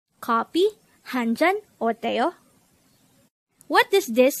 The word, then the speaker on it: 커피: Keopi. Keopi. This is pronounced as a two-syllable word. The first syllable is ko, the second syllable is pi.